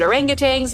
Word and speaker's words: orangutan: you want to help critically endangered orangutangs yes that's how you say it already under pressure from